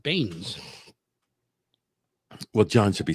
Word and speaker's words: Beanes: Willem Beanies. Wait, where are you? That's not right. right there. Dr. William, I would say Baines. No, Beanes. The E is silent. Baines.